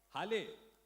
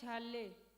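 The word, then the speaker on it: Halle: Hale, Hale, H-A-L-L-E, Hale, किसका नाम है Hale? क्या कैसे अपना नाम कैसे प्रोनाउंस करते हो? नाम कैसे प्रोनाउंस करते हो? My name is Harley.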